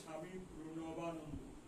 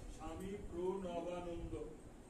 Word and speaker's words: স্বামী প্রণবানন্দ: অনেকে শিক্ষিত লোকে এটা ভালো করে উচ্চারণ করতে পারে না, প্রোর পরে ন হবে, তাহলে উচ্চারণটা ভালো হবে। স্বামী প্রণবানন্দ, অনেকে অনেক নামটা উচ্চারণ হয় না। স্বামী প্রণবানন্দ।